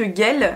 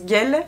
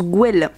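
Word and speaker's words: Güell: barcelone c'est le parc guell je crois que ça se prononce gueule et non pas du tout se prononcent gouel et le portugal c'est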